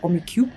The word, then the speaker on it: Rummikub: We played Rummikub together, or "Romy Coup" is how you pronounce it here, i think.